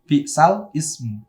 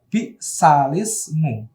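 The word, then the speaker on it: بئس الاسم: Tulisannya seperti itu, bi'sal ismu. Nah, tapi bacanya, lamnya dibaca kasroh karena lam sukun bertemu hamzah wasol. Jadi bacanya adalah bi'salismu. Nah, bukan bi'sal ismu ya, tapi bi'salismu. Nah, gitu.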